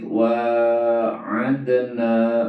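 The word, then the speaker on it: وَاعَدْنَا: 21 ada kalimat waid waadna Musa ya waid D harus betul pembacaannya waid waadna wa itu apa wa itu Mad thobii waadna ad itu qolqala sugro ya dipantulkan waadah harus betul pengucapannya Musa Musa itu adalah Mad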